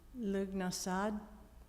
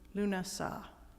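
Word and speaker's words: Lughnasadh: Heather Hearth is presenting lug nasad which I might be pronouncing wrong apologies Lun lunasa there we go at one o'clock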